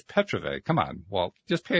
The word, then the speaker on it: Petrovay: to apologize for that I said it was Petro it's Petra come on well just